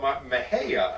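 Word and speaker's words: Mexia: in a little town called mahaya i think uh is pronounced m-e-x-i-a uh but is consistently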